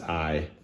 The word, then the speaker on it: Ai: How do you pronounce this? It's pronounced Ai.